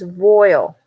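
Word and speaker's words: voile: Pronounced as voil. Voil. Voil. That's Like what we olive call it. oil. Olive oil.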